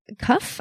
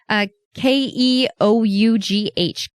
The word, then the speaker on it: Keough: Her name is Riley Keough, I think is how you would pronounce her last name. It's Keough, I believe, Keough.